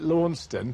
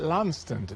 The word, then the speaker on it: Launceston: it's really really nice we call it lawnston but the locals call it landstand that's right lansing lansing